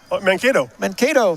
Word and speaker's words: Mankato: Mankato, Minnesota.